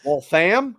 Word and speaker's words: Waltham: Virginia Connor McLaren 617 is that Waltham or Waltham Waltham well fam well fam the second syllable well damn yep all right that's